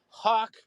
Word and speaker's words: Hawk: Tales featuring Sergeant Hawk Hawk rhyming with rock because that's clearly who